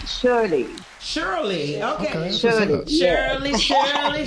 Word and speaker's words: Shirley: And it's pronounced Shirley.